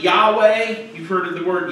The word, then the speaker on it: Yahweh: But the Hebrew word would be pronounced something like Yahweh.